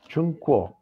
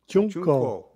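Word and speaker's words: 中国: George Wang, I asked him, how do you say China in Chinese? And I've never forgotten it. Chungkuo. Chungkuo. Chungkuo means China in Mandarin.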